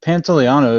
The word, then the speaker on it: Pantoliano: pronunciation's there i mean what would you say pantoliano yeah pantaliano is the is the correct pronunciation i'm going to give it to him